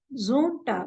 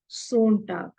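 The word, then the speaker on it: Sonntag: so it is zamst for Sunday it is Zone t s o n t h okay it is Zone tag and not Z Tag because z z it is just like Z Zam Z like that so uh today we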